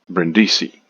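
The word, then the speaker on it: Brindisi: the south of Italy to the place called brendisi now ful takes to Mongolia a steamer lunr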